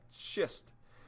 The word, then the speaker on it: schist: into schist all right careful how you pronounce that shist and then you can